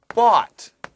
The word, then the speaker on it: bought: A-W 발음해야 돼요. Okay? But, 그렇지만, 하고 boat, 배, 발음 달라요.